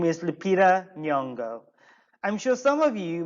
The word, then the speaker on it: Lupita Nyong'o: from a nigerian background it is difficult to pronounce a name so bear with me no please repeat after me lupita lupita nyong'o let's repeat once more okay lupita nyong'o excellent um actually what we are kind of